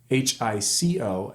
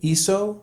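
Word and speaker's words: hizo: The pronunciation remains the same, iso, but I spell it H-I-Z-O.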